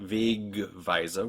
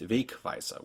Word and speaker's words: Wegweiser: It's not Wegweiser with a G, it's Wegweiser with a K sound in the middle.